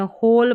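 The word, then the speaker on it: whole: WH से शुरू होने वाले शब्दों में W, जैसे यहाँ पर देखिए इसको वू नहीं पढ़ते, हु पढ़ते हैं, होल पढ़ते हैं, यानी इनमें W का उच्चारण ही नहीं हो रहा।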